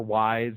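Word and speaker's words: Ys: No, Eve, Y-S, you know. Oh, Eve. Or Wise, however you want to pronounce it.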